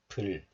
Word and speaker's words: 불: We already checked out this sound, B as in boy, plus, and this one has sound. So B sound plus makes p. P, and one more consonant is added, and this one has the L sound. So this combination makes 불, as in Blackpink, 불.